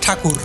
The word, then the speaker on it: ঠাকুর: সেখানকার মৎসজীবী সম্প্রদায় তাদেরকে ভক্তি ভরে ঠাকুর বলে সম্বোধন করতে শুরু করে। ব্রিটিশরাই ঠাকুর শব্দটিকে তাদের উচ্চারণে ট্যাগোর হিসেবে বিশ্বব্যাপী পরিচিত করে তোলেন।